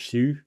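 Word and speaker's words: Xu: So some you can't really say the same for I've always pronounced her name Zoo, but I think actually you'd pronounce it Shu. But yeah, Shu.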